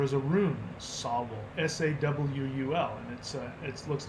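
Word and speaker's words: sāwol: In fact, the word soul, S-O-U-L, is the modern pronunciation of the Old English Sawul. There is a rune, Sawul, S-A-W-U-L, and it looks like an S.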